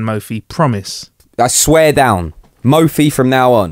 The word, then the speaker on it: Mophie: in mphi cases yeah cuz I didn't know that until right now that it was called Mofi yeah we've been throwing